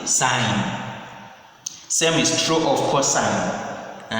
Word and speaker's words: sin: Instead of writing all these words sine, we abbreviate it as sin, but read as or pronounced as sine.